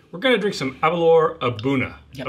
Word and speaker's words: Aberlour A'bunadh: going to drink some avalor abuna that's how you say it um a very impressive